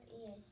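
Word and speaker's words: -est: It's a short E and then the ST.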